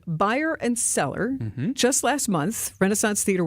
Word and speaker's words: Cellar: And Seller is spelled C-E-L-L-A-R, like a wine cellar.